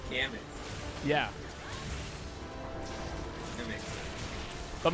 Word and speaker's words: Gammoth: Oh, it's not Gamoth, it's Gammoth. Yeah. That makes sense. But most There's people an added an enemy extra. in Gamammoth.